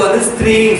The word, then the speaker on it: ஸ்திரீ: அப்படின்னு சொல்லி தமிழ் பைபிள்ல பெண்ணுக்கு ஸ்திரீன்னு சொல்லுவாங்க இல்லையா? ஸ்திரீ, இந்த ஸ்திரீயானவள். ஆனா அவங்க ஸ்திரீ வரல, இஸ்திரின்னு வருது. இஸ்திரி போடுற மாதிரி நினைச்சிருக்கோம்.